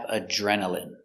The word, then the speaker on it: adrenaline: Next we have adrenaline. Adrenaline. Remember, ine here is pronounced in.